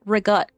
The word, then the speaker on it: ricotta: So ricotta instead of ricotta. And like non-Italian Americans will just say ricotta, right? They'll say, Italian Americans will say rigut.